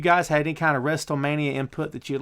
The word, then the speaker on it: WrestleMania: had any kind of WrestleMania input that you'd like to give. Why are you pronouncing the T in WrestleMania?